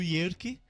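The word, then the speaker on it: Jerke: E aí vem o Yerke, que é com J, que no alemão o J então tem a pronúncia de I, né?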